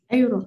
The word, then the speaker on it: Europe: Ya, bacanya gini ya. Europe.